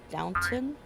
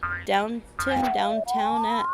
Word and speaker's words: Downton: Yeah, I don't think, is it downtown? I don't think there's a W in it. I could be wrong. But I think it's Downton.